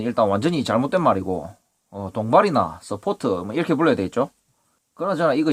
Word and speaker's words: 서포트: 동발이, 서포트, 파이프 서포트, 강관지주, 강관 서포트, 이름도 참 많습니다. 현장에서는 사포도라고 하는데 이게 서포트의 일본식 발음이죠.